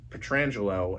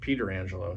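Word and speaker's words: Pietrangelo: I'm like, "Hey, why do you pronounce your name Petrangelo and your longdistant cousin pronounces it Peter Angelo." He goes, "Well, they they just pronounce it wrong over there."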